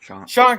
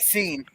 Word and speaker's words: Sean: But Alrighty, so Jedi Bill says that's the film that ended Sean Connery's action. Sean Connery. Looks like Scene. The Avengers. yeah, they spell it like scene, but it is Sean.